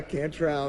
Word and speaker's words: Cantrell: Yeah, Cantrell, that's how you say it. Like Blue Cantrell or Jerry Cantrell.